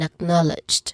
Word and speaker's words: acknowledged: The first syllable of those words, which are a Y in widely and ak in acknowledged. So those are the stressed syllables here.